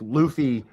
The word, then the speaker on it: Luffy: So, no, it's Luffy. It's Luffy. Monkey D Luffy.